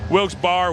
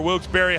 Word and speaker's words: Wilkes-Barre: Wilkes-Barre, Wilkes-Barre, however you want to pronounce it. I was told by the local police department that either one is okay, and either one will be respected.